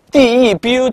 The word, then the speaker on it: debut: 这个单词 debut 它的念法叫做 debut。